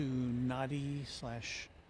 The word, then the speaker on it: Nadi: So, we're going to zoom out here for a quick look at the flight that's headed to Nadi Nandi, depending on who's pronouncing it.